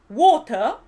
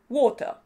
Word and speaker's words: water: water o algo así a no ser que seas escocés la r final no se pronuncia water w w w es